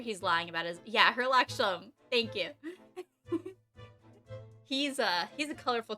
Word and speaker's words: Herlock Sholmes: It's not Sherlock Holmes, it's Hemlock Sholmes, right? Hemlock Sholmes? I forgot how it's spelled. But I'm pretty sure he's lying about his, yeah, Herlock Sholmes, thank you.